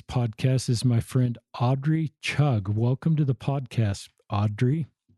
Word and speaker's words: Chugg: My guest on today's podcast is my friend Audrey Chug.